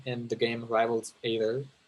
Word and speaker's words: Aether: the game Rivals of Aether. Am I pronouncing that? Rivals of Aether? Or is it Ether? Ether. Ether? Oh, yeah. Okay, that makes sense.